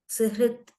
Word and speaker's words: सुहृत्: सुहृत् Yeah. हाँ It is surhut or suhrut, ma'am. सु हकारः ऋकारः First सुहृत् ha comes and then ra comes.